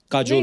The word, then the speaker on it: काजोल: बड़ा यूनिक नाम है आपका, काजोल। काजल है ना, but काजल होता है, काजोल हाँ, but मतलब बंगाली में काजोल। बंगाली में बंगाली में ऐसे उसका प्रोनाउंसिएशन है पर सर।